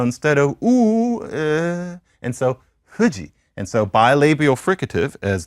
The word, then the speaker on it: Fuji: So let's take the Japanese again, the ever phonetically misrepresented Japanese. We say, I'm going to Mount Fuji. And then they say Fuji.